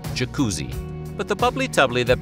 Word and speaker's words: Jacuzzi: His name was actually Yakutsi, spelled with an initial I. But a misspelling at Ellis Island changed the I to a J, and the Americanized pronunciation, jacuzzi.